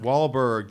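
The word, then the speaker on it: Wahlberg: Mark wbar or B how do you pronounce his last name I don't know wallberg there we go Mark wallberg it's so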